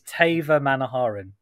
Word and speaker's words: Theivamanoharan: That is the mistake that most people make, is they go with the th at the beginning. Is it Theivamanoharan? It's Theivamanoharan. Theivamanoharan.